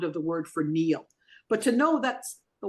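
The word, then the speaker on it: Neele: Because Neil is actually, especially, it's spelt with two E's and an L-E. So it's an unusual spelling, more like needle than a typical Neil, which would be N-E-I-L. Yeah. So this is N-E-E-L-E.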